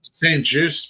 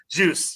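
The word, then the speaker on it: St-Juste: uh St JY uh how do you say his name I always mess his name up St juice Benjamin St ju juice yes so so juice and then you know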